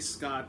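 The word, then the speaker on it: Xcott: his name is really scott spelled x-cott which is pronounced the same as s-c-o-t-t it's just spelled with an x we're both victims of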